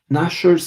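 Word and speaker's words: gnashers: to um wait nashers like with the teeth isn't there a nash isn't no that's not in the dictionary not sure there's a silent g at the start of there but you do have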